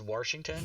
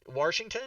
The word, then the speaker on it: Washington: and I was like, "Mike, why do you pronounce the name of the state we live in with an R in it?" And he goes, "Washington?"